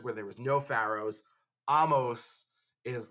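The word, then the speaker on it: Ahmose: And the rebellion is led by this guy, Amos. Sometimes you hear his name pronounced Amosa. But, you know, Amos, Amosa, same person.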